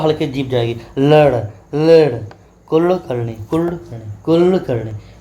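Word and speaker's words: कुळकर्णी: कुल करणी जैसे लिखते हैं मराठी में। तो मराठी में हम लोग लिखते हैं कुलकर्णी। तो इसको क्या बोलते हैं? ये ल और ड के बीच में है।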